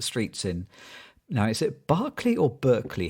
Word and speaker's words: Berkeley: walking up the streets in now is it Barclay or Berkeley how do you pronounce that night California Berkeley Berkeley so I was in Berkeley uh walking trying